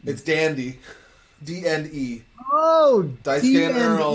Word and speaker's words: DandE: So is it DandE, or is it? Or you want to pronounce DandE or D&D? We want it to be DandE specifically because DNE There's a K-pop Yeah, because band.